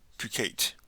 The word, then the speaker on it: coquette: Coquette.